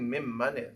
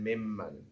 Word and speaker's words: ممن: What do you think mimman is? From who? Very good. So mimman is a contraction of two words, which is min, man, but we pronounce it mimman.